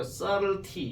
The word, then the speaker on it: subtlety: 이걸 보통 subtleties 이렇게 얘기합니다. 이거 발음할 때는 이 B 발음이 잘 안 되고요. subtlety 이렇게 들어가요. 아시겠죠? 썩은이 아닙니다.